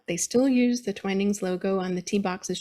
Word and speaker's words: Twinings: still there this is twinings um they pronounce it twining believe it or not usually americans hear twinnings but the uk ads on television will say twinings he opened the shop